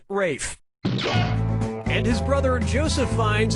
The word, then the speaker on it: Ralph: like yeah ray finds first name is spelled like Ralph but pronounced Rafe and his brother Joseph